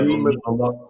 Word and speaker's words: behemoth: Is that how you pronounce it, Behemoth? Or Behemoth? Yeah. Behemoth.